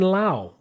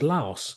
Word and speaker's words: Laos: Yes, he's in Laos, which I always thought was pronounced Laos, but apparently it's pronounced Lao.